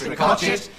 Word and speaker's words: Ricochet: Well, this is our final announcement tonight, so on behalf of all we Ricochet brothers and sisters, spelt Ricochet but pronounced Ricochet, may we wish you